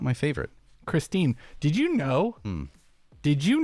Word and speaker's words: Kristin: know is it Christine or Christine it's Christine it's Christine I'm I'm I'm if I'm wrong I'm wrong but I'm calling it here because okay when I hear other competitors from across the pond say her name yes Christine oh okay they say Christine okay Tatar okay so